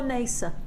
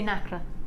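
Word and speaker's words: nacre: Do you say Nacra? Yeah. Well, I won't now. No. Well, I'll it's say either or. To be honest. Oh, is it? I've heard it pronounced Nasa. both ways, Nasa No, I like or Nacra. Nasa. So I always go with both, and then I don't offend anybody.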